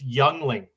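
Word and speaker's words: Yuengling: original black and taning light no Brian you pronounced it wrong it's youngling that's correct you're on a Canadian show 50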